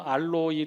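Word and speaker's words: ἄλλοι: 덜어 놓은 이라고 번역했는데 헬라 원어로 는요 알로이 라고 발음 하게 되구요 이 뜻은 요 몇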